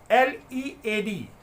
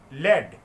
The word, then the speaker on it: lead: Again, it has two pronunciations and two meanings. LEAD, lead, it is a verb, and LEAD, led, it is a noun.